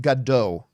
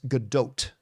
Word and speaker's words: Gadot: um by the way Chris it is not pronounced gdo it's not pronounced gdo I thought for a very very long time it was pronounced gdau apparently the proper pronunciation that I've heard her say uh is GDOT with a t on theend I I know